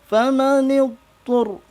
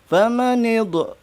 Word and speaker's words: فمن اضطر: Perhatikan pada penyebutan nid dod bukan huruf qalqalah, maka tidak boleh terdengar ada bunyi pantulan. Faman idtur, ya, tidak boleh kedengaran famanid, karena sekali lagi bukan salah satu huruf qalqalah. Jadi harus dibaca famanid ghaira baghin wala 'adin fala ithma 'alaih.